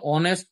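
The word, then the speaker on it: honest: কিন্তু এইচ এর উচ্চারণ ও অথবা অন্য কোন উচ্চারণ হলে তার পূর্বে এন বসে। যেমন এন অনেস্ট ম্যান an hour.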